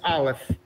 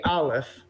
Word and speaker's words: aleph: to pronounce the olive which happens to be silent it has no sound of its own it's unique amongst the